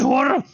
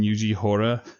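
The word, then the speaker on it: Yuji Horii: And I always call him Yuji Hora. And it's Hori, I believe.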